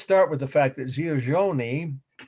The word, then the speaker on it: Giorgione: Well, let's start with the fact that Giorgione is, or Gigiani, as my aunt in Indiana used to pronounce it.